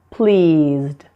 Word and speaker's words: pleased: And please, pleased. Again, note that the E's are silent there. Just pronounce the D, not ed, but D.